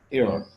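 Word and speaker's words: heir: হি left এয়ার, এখন এখানে এইচটা উচ্চারণ হয় না, উচ্চারণটা হয়েছে ই, ইটা একটা ভাওয়েল, ভাওয়েলের আগে কি বসবে, এন বসবে।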